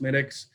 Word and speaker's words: Smithwick's: It's spelled Smithwick's, but it's pronounced Smittix.